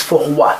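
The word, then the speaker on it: froid: adjective I've chosen is for what for what you don't pronounce d and it is the masculine singular adjective to make it feminine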